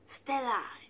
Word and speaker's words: Stella: i'm dressed as donatella stella rhymes with donatella hey so it's halloween